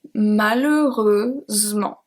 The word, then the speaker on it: malheureusement: So we have malheureusement.